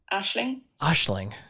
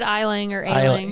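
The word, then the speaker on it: Aisling: one is a-i-s-l-i-n-g and I would guess that's eiling here is Google telling it or this is a website that that is going to pronounce it for us Ashley isn't that tricky yeah I would have said Island yeah all right next one is c-a-o-i-m-h-e kyom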